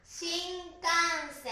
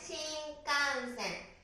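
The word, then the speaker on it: 新幹線: 発音の仕方としてはね、は 1 拍なんですけども、セットでこういう風に発音すると、とても綺麗に聞こえます。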